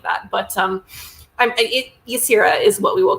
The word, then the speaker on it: Yasira: central character, the scientist, Yasira. Is that how her name is pronounced in your head? Yasira? I pronounced it Yasira.